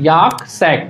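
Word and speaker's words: yolk sac: L silent है इसमें, याक सैक, ठीक है, वाले होते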